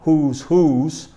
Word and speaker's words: whose: Who is, whose, the pronunciation of this is whose, y significa quién es, quién es. Y el otro, whose, en la pronunciación es exactamente igual, whose, es de quién.